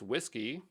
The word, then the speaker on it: WSGI: I don't know uh the web server Gateway interface pronounced whiskey is simply calling convention